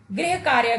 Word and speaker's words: गृह कार्य: बच्चों, इस शब्द में ग के साथ र के स्थान पर री की मात्रा का प्रयोग करने पर इस शब्द का उच्चारण गृह कार्य के रूप में किया जाएगा।